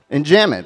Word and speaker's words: enjambment: Enjambment, very good.